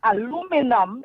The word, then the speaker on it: aluminum: Now, take the word aluminium. That's how the English say it. Right? But aluminum is how the Americans say it.